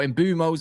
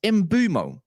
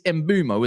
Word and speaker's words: Mbeumo: got this Imbuos or Imbumos however you want to say his name correct me if I'm wrong but I checked his interviews is it not Ibumo it's Imbumo is it.